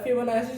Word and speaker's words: Fibonacci: बहुत लोग अलग अलग प्रोनाउंस करते हैं फिबोनाची सीरीज, बहुत अलग अलग प्रोनाउंसिएशन है। मैं फिबोनाची सीरीज बोलूँगा।